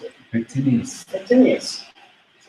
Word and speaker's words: pectineus: How do you pronounce it? Pectineus.